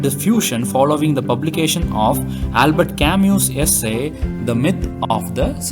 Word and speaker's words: Albert Camus: first author is john paul sotra and then albert camus human being isolator and then in an alien